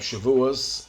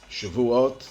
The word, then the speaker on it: Shavuot: Freedom now we come to the holiday of shivas Shavuot depending on your pronunciation and this is the holiday that first